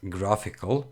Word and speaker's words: GraphiQL: So this is pronounced GraphiQL, and it's a tool to test your queries, right?